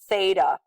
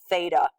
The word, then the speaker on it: theta: symbol right here and this symbol is called Theta that's how you would pronounce that Theta if you've never seen